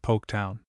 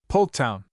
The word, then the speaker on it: Poketown: Through the years the silent L in the original settler's name had been lost entirely. But the post office agreed to put it back into the name, and a big signboard was painted and set up at the dock. Poketown. It sartain sure looks a whole lot different, even if ye do pronounce it the same, admitted Walkie Dexter.